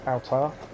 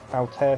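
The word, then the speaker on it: Altaïr: favorite protagonist probably is altar altair sorry i'll say it correctly where is this there's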